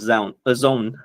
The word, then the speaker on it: Zown: If I wasn't building Zone, is it Zone or Zown? How do you say? Zone, yeah.